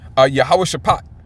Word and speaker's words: Yahweh Shaphat: Yahweh Shaphat, okay?